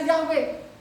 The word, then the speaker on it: Yahweh: tulisannya nanti di situ y he wau he bacanya yahwe baca lagi Firman yahwe